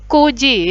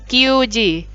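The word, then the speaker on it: 九時: Kemudian untuk jam 9 itu pakainya kuji ya, bukan kyuji. Karena bahasa Jepangnya 9 itu kyu ya, tapi untuk jam itu yang dipakai ku.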